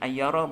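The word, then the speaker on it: أيار: Dibacanya min ayyara bukan min ayyarin karena ghair munsharif.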